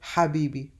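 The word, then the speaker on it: حبيبي: ha which is like an H sound but that is pronounced from deep down your throat like the word Habibi and ah which is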